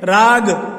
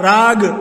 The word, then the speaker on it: راگ: شعلے بھڑک اٹھے ہیں۔ راگ، را الف زبر را، اس کے بعد گاف، راگ، اس کے معنی ترانہ،